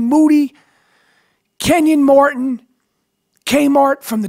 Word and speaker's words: Moody: I'm here with Moody last name rhymes with Duty yep always ready